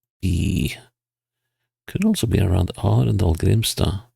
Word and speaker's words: Arendal: Could also be around Arendal, Grimstad. Well, Andal, as the locals say.